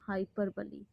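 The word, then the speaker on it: hyperbole: हाइपरबली। Okay? हाइपरबली।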